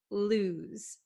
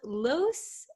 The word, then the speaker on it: lose: these right um so make sure you understand the pronunciation lose lose it's not loose and it's not loose okay it's lose Z okay this s sounds like a z lose lose so what